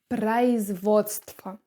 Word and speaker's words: производство: The first word is . Say it again! Great! Remember, we have here [a], here [a], and this is pronounced like . .